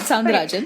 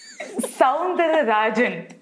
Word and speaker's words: Soundararajan: Right, Soundarajan. Okay. So they basically... No, that is not how you say it. First of all, I just... Soundararajan. I got it correct.